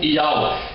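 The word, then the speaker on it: YHWH: é necessário o h porque o h no final de um nome ele é mudo no final de uma palavra ele é mudo portanto aqui não é necessário o h Por isso aparece apenas três letras do nome do eterno no nome de Isaías aqui está e acha essa pronúncia aqui yh WH ela deve ser lida como yawa E é isso que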